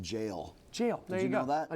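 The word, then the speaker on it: Gaol: When you said Kremlin Road Gowl, it's actually pronounced jail.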